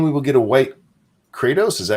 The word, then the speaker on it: Kratos: Does that mean we will get a white Kratos? Is that how you say it? Kratos, yeah.